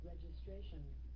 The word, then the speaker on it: registration: Registration. Đâu phải là triệt đâu. Registration. Registration. Administration. Chị mình đọc đúng rồi đó.